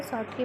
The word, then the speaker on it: Schottky: आप इसे अलग अलग प्रोनाउंस कर सकते हैं। शॉर्टकी मैं शॉर्टकी पढ़ती हूँ।